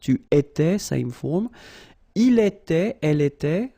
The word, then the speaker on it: était: Il était, elle était, final T not pronounced.